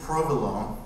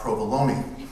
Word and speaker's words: Provilon: It's spelled like Rock Provilon. It's pronounced Rock Provilon. And I have been practicing all morning to make sure I don't say Rock Provolone.